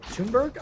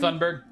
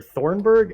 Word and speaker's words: Thunberg: about how that Greta Thunberg, I think, is her name. Thunberg. Thunberg. I always called her Thornburg, and there's clearly no R, so whatever.